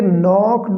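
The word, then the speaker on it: knocked: तो इसका के साइलेंट है, इसको हम पढ़ेंगे नॉक्ड।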